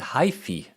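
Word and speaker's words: hyphae: was corrected it's called supposed you're supposed to pronounce it Hy the hyy are the cells of a fungus yeah and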